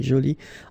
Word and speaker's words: jolie: So basically the two adjectives, masculine joli and feminine jolie, are pronounced the same way.